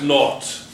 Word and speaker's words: naught: This is pronounced naught. V naught.